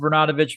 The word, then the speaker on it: Bernatovicz: I pronounce it Bernatovicz, but it is a funny thing in our family. At family reunions, there's roughly, I should know the number, 17 now. And we go around the dinner table and how do you say our last name? And there's 5 or 6 different variations of it.